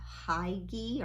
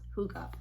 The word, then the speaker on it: hygge: book of hygge and it doesn't look like it's spelled that way it almost looks like a high gear or high G but it's it's it's actually pronounced hookah because it says it